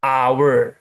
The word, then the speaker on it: hour: H-nya huruf mati. Hour. A huruf hidup kan? A depannya berarti a hour atau an hour. Karena dia depannya huruf hidup bunyinya hour.